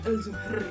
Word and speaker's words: Zuhur: Soalnya di situ tulisannya ELZUHR. Terus bacanya gimana? Zuhur gitu. Oke, nggak apa-apa ya.